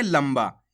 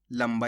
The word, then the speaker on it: लंबा: शब्द को कैसे पढ़ेंगे लंबा यहां पर अपन आधा मा का उच्चारण करेंगे लंबा इस प्रकार से तो आपको